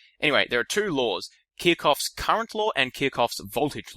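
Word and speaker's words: Kirchhoff: need to know and they're called kof laws that's spelled k i r c h HF sort of a weird spelling I think it might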